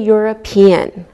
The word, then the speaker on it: European: Same with a European. We pronounce the E and it sounds like a Y.